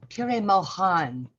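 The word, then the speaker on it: Pir-e-Moghan: I've heard Mayor N pronounce it pure moan many many times. So the G is not pronounced in the name Pure Moan.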